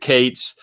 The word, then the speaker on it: K8s: You'll see K8s all the time, or pronounce it Kates.